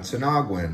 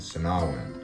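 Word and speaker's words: Sinagua: how to pronounce it the g is kind of silent to nahwen not sinaguin sinawin so anyways they had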